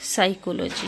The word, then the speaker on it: psychology: इसमें हम पी को साइलेंट रखते हैं। इसलिए हम पढ़ते हैं साइकोलॉजी।